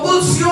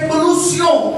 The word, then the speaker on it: کلوسیوں: اس کی غلط العام جو تلفظ ہے وہ کلسیوں کا خط ہے. عام طور پر کلسیوں کا خط کہتے ہیں، لیکن اگر اسے اوریجنل طور پر دیکھا جائے تو اسے کلوسیوں کا لفظ کہا جاتا ہے.